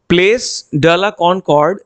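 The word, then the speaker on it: Place de la Concorde: चौराहे के, उस चौराहे का नाम होता है प्लेस ड ला कॉनकॉर्ड। ठीक है, एक बार मैं इसका प्रोनाउंसिएशन दोबारा से आपको बता देता हूं, ये थोड़ा सा डिफिकल्ट है। सो प्लेस ड ला कॉनकॉर्ड ये एक स्क्वायर था।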